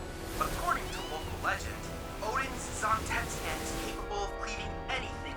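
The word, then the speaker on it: Zantetsuken: Zontetsuken! Alright, you wanna know what Brian and I called that when we were kids? Like 7, 8 years old? You wanna know how we pronounce that? Zantanzuken!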